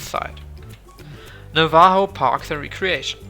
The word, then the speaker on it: Navajo: Please be considerate of Navajo land! Warum schreiben wir das mit J, wenn es einfach wie H ausgesprochen wird?